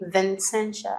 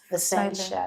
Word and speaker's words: Vincentia: they tend to say Vincentia. And I'm like, bro, no, even though there's an N there, it's Vincentia. The N is silent.